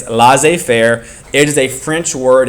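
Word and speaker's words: laissez-faire: with this idea called La Fair it's not pronounced lassis fairy it's l Fair it is a French word and all it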